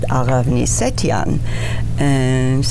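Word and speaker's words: Aghavni: my name got changed My baptismal name is Aravni, which is spelled A-G-H-A-V-N-Y, and mispronounced even in Bulgaria because it was so unusual and difficult.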